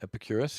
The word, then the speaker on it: Epicurus: moving on to Epicurus yes or did I pronounce that right Epicurus yeah it was a protect us and he